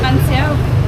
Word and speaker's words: bánh xèo: And do you also want the bánh xèo?